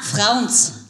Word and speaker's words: Frauns: Na, Frauns. Frauns. Yes, es muss ein bisschen leichte Aggressivität in sich haben.